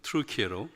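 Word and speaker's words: Türkiye: 그 주위에 있는 지금은 이제 당시는 터키였지만 작년부터 트루키에로 이렇게 터키에서 요청이 있어서 트루키라고 발음하는데 비거주 선교사로 섬기고 있는 김성관 목사입니다.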